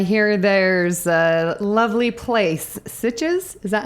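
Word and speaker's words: Sitges: Well, I hear there's a lovely place, Sitches.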